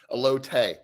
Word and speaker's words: elote: How do you pronounce it? Elote.